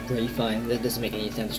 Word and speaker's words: Ralph Fiennes: I don't know if you pronounce him Ray Fiennes. That doesn't make any sense. There's no Y in there. So Ralph Fiennes.